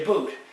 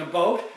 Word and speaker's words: about: couldn't you pick up they weren't saying a boot they were saying a boat even some canads were pronouncing it as about even no doubt but nobody ever said a boot the only time like